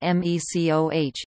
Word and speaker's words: MECO: HECO purchased Maui Electric Company, abbreviated MECO and pronounced MECOH, in 1968.